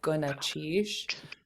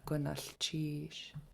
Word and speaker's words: Gunalchéesh: they skip it and they'll say Gunalchéesh, which is a common mistake, and it's okay if that's where you were at before today. But starting now, I want to hear everybody continuing your good pronunciation of Gunalchéesh.